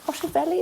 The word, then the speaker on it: Hotovely: Joining us now is the Israeli ambassador to the United Kingdom, Tzipi Hotovely. Is that how I pronounce yes.